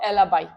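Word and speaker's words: alibi: हो सकता है प्रोनाउंसिएशन सबका अलग अलग हो, कोई एलाबी भी कहता है, एलाबाई भी कहते हैं, what ever you want to से यू कैन।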